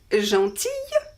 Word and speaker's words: gentille: The feminine is gentille, gentille, with double L and E, and we pronounce it I, gentille.